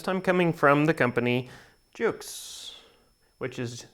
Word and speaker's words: JUXXE: another unboxing this time coming from the company Jukes which is spelled J u xx e and this is